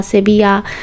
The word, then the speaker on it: Sevilla: I love সেভিজা তো আপনারা হয়তো ভাবছেন আমি ভুল পড়ছি এটা সেবিজা কেন বললাম তো এখানকার স্প্যানিশে ওরা ডাবল এল কে জ বা অচ্চারণ করে তো এটা সেবিজা বা সেবিয়া এরকম ওরা উচ্চারণ করে প্রথম প্রথম আমারও এটা